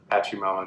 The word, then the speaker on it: Pachamama: / nature, kind of a la Pachamama or Pachimama, to pronounce it correctly. I like to say Pachamama, but nature is good.